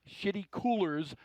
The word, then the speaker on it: Shitty Coolers: He will run the Shitty Coolers number 2. Yes, that's exactly how you pronounce it.